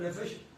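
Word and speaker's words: נפש: Nefesh, ¿cómo se escribe nefesh? N-E-P-H-E-S-H. de nuevo. N-E-P-H-E-S-H. Nefesh. Se pronuncia Nefesh. Como si PH fuera una F.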